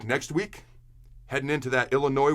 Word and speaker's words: Illinois: week heading into that Illinois where the S is silent game until next time